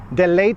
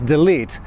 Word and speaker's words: delete: this one is delete polish people say all the time especially in companies delayed the file delayed so it's not delayed its delete hopefully that video will